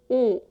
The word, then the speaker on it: 오: Don't let the sound change as you hold it.